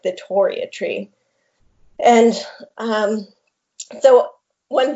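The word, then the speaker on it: Torreya: the correct pronunciation is toriya because uh three is named after john tory uh oh okay yeah describe that plant so yeah so the toria tree was a plant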